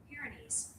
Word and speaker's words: Pyrenees: of the paninence mountains oh come on Pyrenees. Pyrenees.